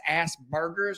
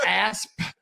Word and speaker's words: Asperger's: And I thought it was Asperger's. Yeah. And it's not. It's Asperger's. Asperger's. You gotta pronounce. I've been putting ground beef in it the whole time, dude. Like, I've been straight burgering it.